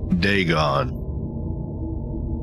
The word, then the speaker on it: Dagon: ancient philistine legend of dagon the fish god degon now that i know how to pronounce it was the main deity of the